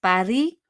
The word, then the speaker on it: Paris: Paris, on prononce pas le S.